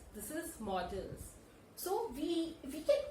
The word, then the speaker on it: modals: People tend to pronounce it as modals. This is not modals. This is models.